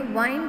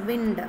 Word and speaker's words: wind: So here you shouldn't pronounce this word as wind, because wind means air. Here it is wind. Okay, so if you take a spring, how it will be? It will be winding.